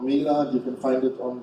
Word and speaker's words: Mila: So it's called Mila, like meal with a name. How do you pronounce it? Mila? Yeah, Mila. Mila.